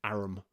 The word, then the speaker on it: arm: He pronounced it arum.